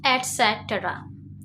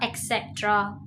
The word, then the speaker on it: etc.: 19th वन इज एटसेट्रा. इट्स नॉट अ एक्सेट्रा. It is a etc.